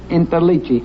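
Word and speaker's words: Interliggi: mr intellegi my name my name is interlichi i-n-t-e-r-l-i-g-g-i you know i'm getting so that i can spell it now too well let's find out some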